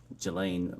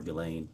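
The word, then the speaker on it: Ghislaine: that in 2024 uh Gelain Maxwell or Gileain I think is how it's pronounced arranged and wired $1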